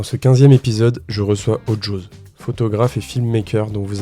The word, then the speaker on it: Ojoz: Ok, j'ai bien prononcé, on dit Ojose, Ojose. Ouais, chacun choisit un peu son accent. Je trouve ça assez drôle. Toi tu dis quoi? Ojose. Ojose. Ouais, avec le Joe.